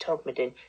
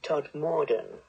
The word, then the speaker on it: Todmorden: pursue an edible townscape except of course he pronounced Todd midden Todmorden but what they do